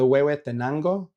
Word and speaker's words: Huehuetenango: Oh man, the Huehuetenango. Yeah. Okay, all right. Huehuetenango, I would have not been anywhere close.